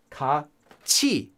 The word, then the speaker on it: 같이: Now it's written as 같이, but it's pronounced as 같이, 같이.